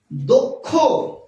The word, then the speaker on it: দক্ষ: এই শব্দটির উচ্চারণ হচ্ছে দক্ষ।